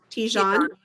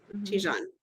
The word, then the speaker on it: Tijan: How do you pronounce that name? Tijan. Tijan.